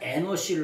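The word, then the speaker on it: אנוש: 여러분, 셋이 누구를 낳냐면 에노시를 낳습니다. 우리나라 성경에는 에노스라고 표현되어 있죠. 에노스. 영어 성경을 거의 비슷하게 발음해가지고 에노스인데 정확한 원래 발음은 에노시예요.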